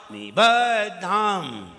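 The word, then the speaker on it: निबद्धाम्: निबद्धाम, निबद्धाम, दा को जरा टाइट करिए। निबद्ध, ये दा हो गया, धाम बोलिए अलग। और धाम में भी मकार उच्चारण में आना चाहिए, नहीं तो मकार तो उच्चारण में ही नहीं आता है।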